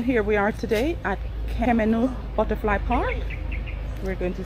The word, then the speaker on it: Kemenuh: How do you pronounce it? Is it Kemenuh? Kemenuh.